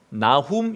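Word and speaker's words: Nahum: 단어는 두 단어가 있습니다 하나는 선지자 이름하고 똑같아요 나훔 이라는 단어입니다 나 홈 우리 졸린데 한번 같이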